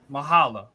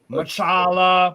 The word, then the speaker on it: Mahala: My last name is Mahala. Guess what people call me? Machala, Michaela, Mala, all my life.